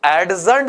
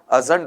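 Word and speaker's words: adjourned: इसका उच्चारण में भी आप गड़बड़ी करोगे भाई, ये एडजर्न्ड नहीं है, ये जो शब्द आपके पास में आ रहा है ये एडजर्न्ड नहीं है, बल्कि क्या रहेगा बताओ, आपका अजर्न्ड रहेगा।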